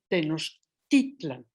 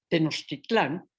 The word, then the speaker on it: Tenochtitlan: Cito: la forma fonética del nombre de nuestra amada ciudad en su primitivo idioma es Tenochtitlan, con acento en la penúltima sílaba.